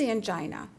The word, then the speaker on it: angina: So to explain a little bit about these diagnoses, what is angina? Angina, or angina as it can sometimes be pronounced, usually occurs when a narrowed coronary artery can't deliver enough oxygen-rich blood to the heart muscle.